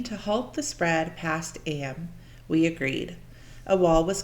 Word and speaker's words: Eyam: during the plague to what AM England in Derbyshire am like morning well that's how pronounced okay all right gotcha am